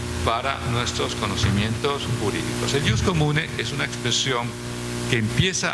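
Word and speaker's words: ius commune: Muy bien, la segunda parte de esta presentación tiene que ver con el Jus Comune, IUS, Jus, Derecho Comune, que se escribe como suena en castellano, pero con doble M.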